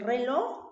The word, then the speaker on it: reloj: ¿Dónde está la sílaba tónica? En loj, ¿cierto? En la última sílaba. Perfecto. Entonces, reloj es una palabra aguda, ¿sí?